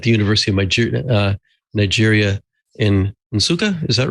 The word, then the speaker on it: Nsukka: He's a student in computer science at the University of Nigeria in Nsukka. Is that right? Is that how it's pronounced?